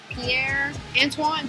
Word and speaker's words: Pierre Antoine: Maybe Pierre Antoine, did I say it right? You did, you got it right.